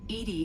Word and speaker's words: EDI: a specific inquiry why are you named Ed Ed is the phonetic pronunciation of e that is an acronym for